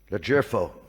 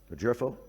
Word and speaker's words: LoGerfo: And now it's uh my pleasure to introduce uh Gregory Leero. Did I say that right? The jero. It said it's it says here it's a soft G.